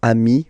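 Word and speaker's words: amis: you will get okayi so Ami remember doesn't change even if you you get to write the S then you don't pronounce it okay and now let's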